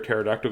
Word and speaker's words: pterodactyl: bird it's a pterodactyl do you know why you can't hear a pterodactyl going to the bathroom there P is silent I did that joke